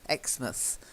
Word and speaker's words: Exmouth: first one Bournemouth okay we don't say mouse we tend to say must Bournemouth Exmouth okay try it wanna